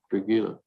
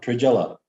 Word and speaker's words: Trujillo: Trujillo. You don't pronounce the L? Trujillo.